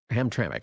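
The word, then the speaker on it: Hamtramck: So, you have this town in Michigan, uh, Ham Tramik or Ham Tram, Ham Tramik, I think is actually how you say it, in Michigan.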